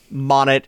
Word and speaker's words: Monet: king's cabinet sure um Monet short for monitor as in this is is somebody who is keeping an eye out for the king okay sure I wrote it down phonetically um like the name Monae looks like y I thought